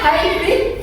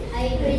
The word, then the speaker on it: hybrid: Hrid bacanya hybrid. Hybrid.